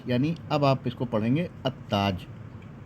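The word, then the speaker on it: التاج: अब आप इसको पढ़ेंगे अ ताज अलताज नहीं होगा यह हमेशा याद रखिएगा अ ताज हो जाएगा यह मिल जाएगा लाम गिर जाएगा यानी साइलेंट हो जाएगा लिखा जाएगा लेकिन पढ़ा जाएगा अ ताज फिर आपको बताते अर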